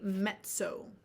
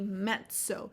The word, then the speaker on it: mezzo: So just how you spell pizza, Pizza, pizza. So it's going to be mezzo. I don't know if that helps you guys really understand how to pronounce. Mezzo with the double Z, right? Just like pizza, it's going to be mezzo. It's almost like there's a TSO in the word, right?